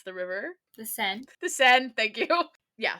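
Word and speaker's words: Seine: I can't ever pronounce the river. The Sen.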